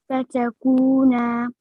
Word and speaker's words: فتكونا: هذه أش أش الشجرة الشجرة فت- فتكن من No, say the wow. You're not saying the wow. Say it again. فتكن No, kaf, dhamma, and wow.